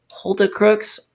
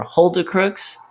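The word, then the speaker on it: Hulda Crooks: um by you allen is it polter crooks or hold the crooks what's the proper pronunciation for that look that's fine let's hold it hold the crooks h-u-l-d-a hold it what a change of topic nice nice mark it's like it's it's hold your crotch i think that's kind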